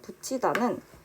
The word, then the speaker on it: 붙이다: 두 번째 예시인 붙이다는 여기 받침에 있는 티읕이 뒤에 있는 이를 만나서 치읓으로 발음이 나고 있습니다.